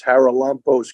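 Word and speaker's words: Charalampos: Greek I mean the the pronunciation is haralampos Gregorio don't say G on we call him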